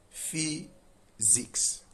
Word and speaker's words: physics: This is physics. So the S in physics is pronounced as Z.